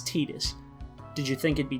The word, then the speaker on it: Tidus: guy how do you think his name is pronounced i'll just tell you it's tidus did you think it'd be titus just by looking at it be honest i